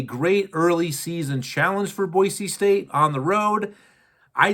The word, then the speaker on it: Boise: so Boise State and it's boisey is how they pronounce it up there in Idaho boisey State the Broncos travel